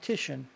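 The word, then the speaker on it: Titian: it's pronounced TI t i a an and pronounced tishan he was in fact the greatest Venetian Renaissance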